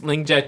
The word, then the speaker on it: Lingjia: So my name is Lingjia. Thanks for the introduction. To make it easier for you guys to pronounce it, it's pronounced as Ninja, but with the Ling, with the L.